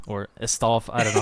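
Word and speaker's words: Estève: Pedro Porro, Agbadu, and Steve, or Estav, I don't know how to say it. Esteve.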